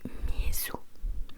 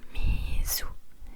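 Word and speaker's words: 水: Si tu veux de l'eau, si tu veux dire eau, donc water, c'est mizu, mizu, mizu, mizu, mizu.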